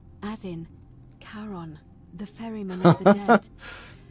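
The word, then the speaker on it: Charon: It's just as you described it, only your pronunciation is a little off. The name you heard wasn't Karen. It was C H A R N. As in Karon, the fairyman of the dead.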